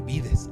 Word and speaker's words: vides: falsas qué implica si se pronuncia así yo lo tuve que investigar amado el plural de dije vides Ah okay Entonces sí